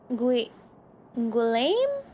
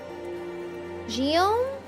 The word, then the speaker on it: Guillaume: Guillaume? Guillaume? Om? So is it Guillaume? What's the G? Hard G like guy?